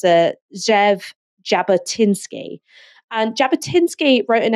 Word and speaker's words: Jabotinsky: I can't going to be absolutely butchering the pronunciation so very very sorry I think it's a Zev Jabba tinsky and Jabba tinsky wrote an essay called the